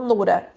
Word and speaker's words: Nura: na religião islâmica como Nura. Nura é como a gente pronuncia em árabe, para facilitar para o português, eu sou a Nora.